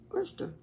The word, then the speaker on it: Worcestershire: In England, I read this. In England, they just say Worcester sauce. Worcester. I say Worcester sauce. I kind of get the stir in there before the sure. Worcestershire sauce. That's what I say. And you just have two syllables. You don't end up with four syllables. You got two.